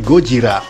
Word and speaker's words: Gojira: dan Nagasaki Godzilla sendiri berasal dari dua kata yakni gorira atau gorila dalam pelafalan bahasa Jepang dan juga kujira atau ikan paus yang disatukan menjadi gojira walaupun secara pemasaran Internasional disebut sebagai Godzilla yang menggambarkan bahwa ia